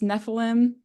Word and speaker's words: Nephilim: And then she gets rescued by, I believe it's pronounced Nephilim.